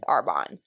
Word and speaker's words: Arbonne: copples uh with arbonne it is not arbonney apparently it's arbonne i support it love